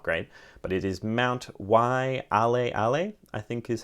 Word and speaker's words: Waialeale: Sorry if my Hawaiian pronunciation is not great, but it is Mount Waialeale, I think is how you say that.